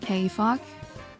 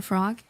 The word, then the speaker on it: Kog: Nice name is pronounced Kog. Oh, there we go. All streamers call me frog the first few times.